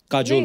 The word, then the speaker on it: काजोल: बड़ा यूनिक नाम है आपका, काजोल। काजल है ना, बट काजल होता है, काजोल हाँ, मतलब बंगाली में काजोल, बंगाली में ऐसे उसका प्रोनाउंसिएशन है सर।